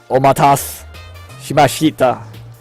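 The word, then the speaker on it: お待たせしました: No, I gotta pronounce this right. Omatase shimashita.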